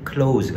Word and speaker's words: close: getting close 하면 close 가까운이라는 형용사니까 여기서는 close 하면 동사로서 닿다 하지만 가까운이라는 형용사로 쓰일 때는 발음이 close가 아니라 close. S로 발음되죠. 무성음으로.